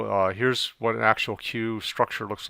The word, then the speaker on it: queue: the deck so a cue pronounced by the letter q is actually from the